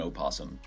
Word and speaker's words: opossum: Right, and the O is silent in the possum case, but yes, to differentiate it, I think the O is important. So the North American opossum versus the Australian possum.